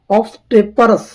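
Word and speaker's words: obstreperous: Question number 8 कह रहा है, ये शब्द दिया है, इसका मतलब है ऑब्स्टेपरस, ऑब्स्टेपरस। ये एकदम कठिन शब्द है, इनका प्रोनाउंसिएशन ध्यान से देखें।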